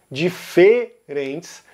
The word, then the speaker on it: diferentes: como ela é pronunciada, a primeira letra E dessa palavra, diferentes, que em Rio Grande do Sul, São Paulo, Minas Gerais, Rio de Janeiro e Goiás, ela é um E fechado, diferentes, mas, novamente, nos estados